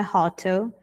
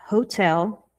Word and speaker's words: hotel: Não é hotel, é hotel.